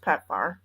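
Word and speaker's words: PEPFAR: rely on per PF program for medications it's pronounced pepar is it an acronym uh yes acronyms don't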